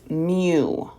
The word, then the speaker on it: mu: is a Greek letter it looks like a u but it is pronounced m-e-w it's mu all right that's what